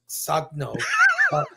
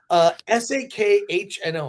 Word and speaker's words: Sakhno: And the woman who plays Amelia, Ivana Sagno, is that her name? No, but you were getting close to something great. I did not say anything crazy. Sakhno.